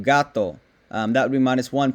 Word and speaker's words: gato: minus two points um if you mispronounce a consonant sound um that would be like saying hatto instead of gato that would be minus